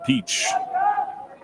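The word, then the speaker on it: Piech: it's two and two it's not spelled like the peach you would eat p i e c h Ryan Peach two balls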